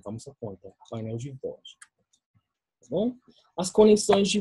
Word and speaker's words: voos: Então, aqui, essa palavra voos, né? Tem dois O, mas o segundo O, né? É pronunciado como um U.